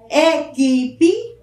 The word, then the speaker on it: equipe: A palavra aquele, equipe, veja a diferença, aquele, equipe. O U não é pronunciado, certo?